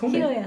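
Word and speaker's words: 尋也: あ、ひろやさんだ。ひろやさん、うん、ええ清水ひろやさん。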